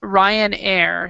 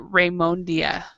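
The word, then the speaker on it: Ryanair: she called a um Ryan Air she pronounced it Rondia and you know and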